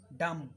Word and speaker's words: dumb: उसके बाद DUMB, डम, डम, इसमें बी साइलेंट है, बी प्रोनाउंस नहीं करना आपको, डम।